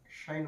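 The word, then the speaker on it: sinh: of X so finally Side Y that will pronounce as shine Y is equal to X or X is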